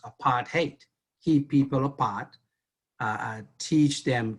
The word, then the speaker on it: apartheid: the chat, that it really is how it's pronounced, apartheid.